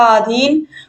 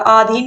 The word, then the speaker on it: अधीन: तो यहाँ पर देखिए जो शुद्ध शब्द लिखा अधीन, वो होता है अधीन होता है, आधीन नहीं बल्कि क्या होता है?